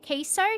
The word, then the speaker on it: queso: How do you say it? Queso. Queso. Oh, it's queso.